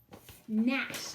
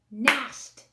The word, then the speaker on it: gnashed: show their terrible teeth nash let's clap that out gnashed that's right one syllable all right so now